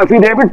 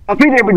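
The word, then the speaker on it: affidavit: आज वो एफिडेविट नहीं बोल पाते हैं। अफिडेविट बोलते हैं। एफिडेविट आज उनका प्रोनाउंसेशन इतना गड़बड़ है जो कि उसको भी प्रोनाउंस नहीं कर पाते ठीक से बोल नहीं पाते हैं।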